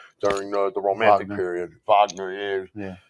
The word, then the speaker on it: Wagner: That that that's that's a complete myth that was made by Wagner Wagner during the the Romantic period. Vagner, that's the right pronunciation of it.